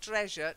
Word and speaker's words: treasure: And then, just to confirm, the t, not treasure, treasure. You've got to get a t sound at the beginning. Treasure. Treasure. That's better. And it's more j, treasure.